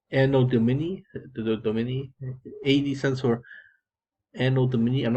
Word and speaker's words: Anno Domini: Anno Domini, AD stands for Anno Domini. I'm not pronouncing it. Let's pronounce this correctly, actually. Anno Domini.